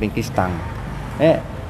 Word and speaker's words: คริสตัง: ไทย เนี่ย ความ จริง คำ ว่า คริสตัง เนี่ย มัน เป็น ภาษา โปรตุเกส ครับ ออก เสียง เป็น คริสตัน อ่า คริสเตียน เนี่ย ียน